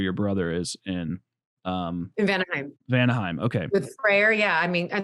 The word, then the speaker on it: Vanaheim: the one where your brother is in, In Vanaheim.